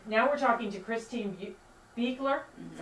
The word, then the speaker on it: Beuchler: Okay, now we're talking to Christine Beuchler, that's how I pronounce it, Beuchler.